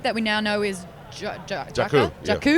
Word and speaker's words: Jakku: This new landscape that we now know is Jakku. Jakku. I've got to get that right. I'm like Jukka.